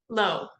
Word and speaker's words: Laugh: talking to pronounced your last name for me low okay I was gonna say la and I'm like I don't know which one so um